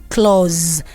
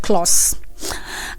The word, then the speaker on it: clause: The S there is producing the sound of Z. That's why I have to pronounce it as clause and not clause. All right, and then I'll move on quickly to for.